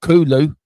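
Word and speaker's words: Kolo: Think of it think of it like a cola but with instead of an A, it's an L.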